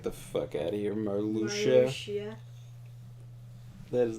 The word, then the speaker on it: Marluxia: That's how Marluxia is pronounced? Get the fuck out of here, Marluxia.